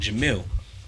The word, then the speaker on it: Jamel: I'm taking everything back to its original form, because my name is Jamel, in Arabic pronounced Jamil.